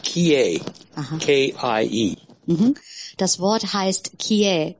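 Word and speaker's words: 帰依: The word is, it's pronounced kie, K-I-E.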